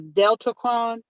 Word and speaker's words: Deltacron: That is it, if I'm saying it right, the Deltacron.